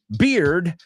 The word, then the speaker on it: beard: Chris Valrol says, beard rhymes with eared.